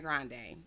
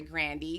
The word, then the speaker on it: Grande: starts this rant and he comes for Ariana Grande or I'm sorry grandi cuz that is how you pronounce her name so we gonna we pronounce